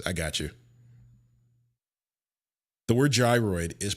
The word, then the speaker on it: gyroid: The word gyroid is pronounced with a J. That sound is at the beginning similar to euro rather than a hard G sound. Uh the correct pronunciation is gyroid.